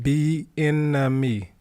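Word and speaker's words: Bieniemy: head coach salary do we have Eric uh benmy benmy hold say his name Eric benmy are we able to still have Eric benemy did I say it right be enemy B enemy yeah if hold say his name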